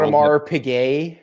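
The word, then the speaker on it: Audemars Piguet: Otmar Pigay. Yes. Sorry. And you you you uh pronounced it properly.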